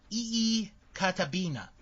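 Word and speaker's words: Iikaitapinna: for you yes yes okay it is i why i i ki ta TI n na and it is pronounced ee kata bina when when interviewed Bret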